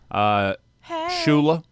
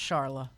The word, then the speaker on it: Charla: Shula. Is it? Or Shula? Shula? It's pronounced Charla.